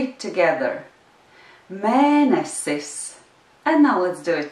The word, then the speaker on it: mēnesis: Mēnesis. And now let's do it together. Mēnesis. The accent is on the first syllable of the word mēnesis.